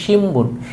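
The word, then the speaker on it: 新聞: তারপর লিখেছে হচ্ছে শিনবুন। এটা মূলত হচ্ছে শিনবুন, কিন্তু জাপানিজরা যখন এটা উচ্চারণ করে এটা হবে শিমবুন। এই নটার উচ্চারণ ম হবে, শিমবুন।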